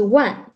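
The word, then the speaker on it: 万: different from english right we use one to show ten thousand sounds like number one in english uh actually yes one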